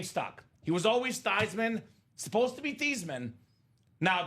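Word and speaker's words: Theismann: Dame says Hey Joe let's change your last name from thian to thyman so you can be thyman for the Heisman Joe was a sellout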